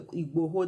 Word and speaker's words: Igboho: when I saw the Sunday iGo I think that's the corre iGo that's the correct pronunciation doing presenting a petition